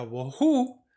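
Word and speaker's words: בֹהוּ: Me voy a clic el Strong para vacía, que es el 922, es la palabra que se pronuncia bohu, y entonces voy a copiar, me voy al editor de notas, voy a decirle pegar.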